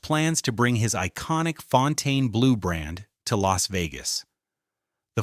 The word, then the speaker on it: Fontainebleau: The Fontaine Blue, which I'm pretty sure is how you say it, not Fountain Blue, was supposed to open in 2009 as a $2.9 billion masterpiece.